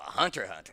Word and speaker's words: Hunter x Hunter: what Hunter x Hunter is I know a hunter hunter oh that okay yeah cuz Justin Justin he